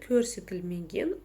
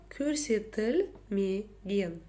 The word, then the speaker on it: көрсетілмеген: Итак, как же прочитать букву О с черточкой посередине? На самом деле все довольно просто. За основу нужно взять букву Ё. И смотрите, такое дело. Когда мы произносим букву Ё, изначально мы слышим и краткую. Ё, ёлка, елка, да? Вот. Убираем эту часть, и у нас остается звук который мы и используем в казахском языке.